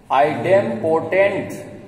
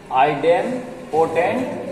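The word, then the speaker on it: idempotent: जैसे पहला लॉ क्या लिखा हुआ है, प्रोनाउंसिएट करो, आइडेम्पोटेंट लॉ। आइडेम्पोटेंट लॉ, एक दो बार बोलो, आइडेम्पोटेंट लॉ।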